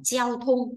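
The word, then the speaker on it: 交通: là gì đấy ạ giao thông đọc là treo thung quy tắc thì sẽ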